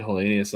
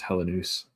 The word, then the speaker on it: Helenius: don't Yeah, I was saying Helenius all season, but I guess you know now for the future, you know, it's Helenoose.